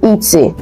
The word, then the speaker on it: et: So the one that is interdite, let's start with the forbidden one, is the et. Et. So the T in et, which means and, is not pronounced.